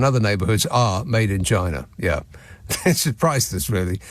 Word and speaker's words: QI: And according to them, according to Stephen Fry and the QI elves, QI or chai or chi as it's pronounced is the most commonly played word in Scrabble.